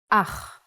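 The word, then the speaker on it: אח: a brother in Hebrew ah the pronunciation is important try to pronounce it more glotly from your throat Hava is a farm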